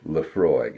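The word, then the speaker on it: Laphroaig: And that is a Scotch whiskey, Leafroy Tenure. And that's how you pronounce it, at least in American English. Leafroy.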